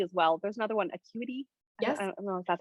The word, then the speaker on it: Acuity: to use calendly as well there's another one acuity yes that's how you say it i think